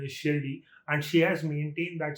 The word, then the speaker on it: Shirdi: So whenever they say Shirdi, they don't say Shirdi, they say Shiradi. So that's what how Tamil people know it. A lot of them say that, but the actual pronunciation is Shirdi, and she has maintained that same pronunciation in